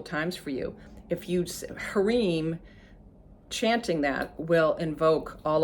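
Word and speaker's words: hrim: is harim spelled h-r-h-r-e-e-m and pronounced sorry h-r-i-m pronounced hreem and literally all you need to do you can do it with ohms and i'll just sing it a couple times for you if you hareem chanting that will invoke all of these things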